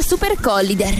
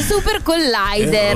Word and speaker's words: Supercollider: sentiti la prima volta ho detto Super Collider, no, assolutamente si dice Super Collider. Errore comune.